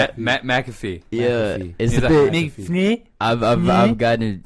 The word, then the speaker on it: McAfee: earlier this week yeah he was like it's like McAfee I the antivirus I kept saying macro we literally sat there